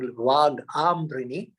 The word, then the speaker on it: Vagambrini: Ambrini, with a long A at the beginning, Vagambrini, means Vag, the daughter of Ambrana, her father.